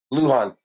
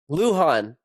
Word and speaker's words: Lujan: do how do you pronounce that did I pronounce that right Luhan Luhan yeah Mike Luhan Mike Luhan welcome to the show buddy hey